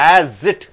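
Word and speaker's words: asset: ஆஸ்க்கு ஒரு சிலபல் தான், அசட்டுக்கு ரெண்டு உச்சரிப்பு, ரெண்டு சத்தம். அசட் அசட் அசட் ஏக்கு அப்புறம் டபுள் எஸ் வரும்போது ஜெட் ஆக மாறுகிறது.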